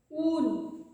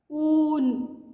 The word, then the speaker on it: ऊन: ऊन कैसे उच्चारण हो रहा? ऊ। आपको बोलने के बाद भी आपको आपकी आवाज़ सुनाई दे रही ना? ऊ की, तो यही है बड़ा ऊ। ऊन।